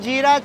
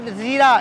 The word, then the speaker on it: jeera: Indian jeera chicken. Oh? It's not zeera, it's jeera. But jeera is zeera anyway? Yeah but in their pronunciation it's jeera. But zeera in Urdu.